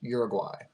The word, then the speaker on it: Uruguay: In case there are any South Americans listening to this podcast, it's pronounced Uruguay.